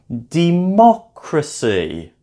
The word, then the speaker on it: democracy: For example, democracy. Count back from the end, 3 syllables. Democracy is the correct pronunciation.